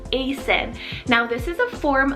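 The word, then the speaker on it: Aceyn: So I have the name Asen, spelled A-C-E-Y-N, Asen.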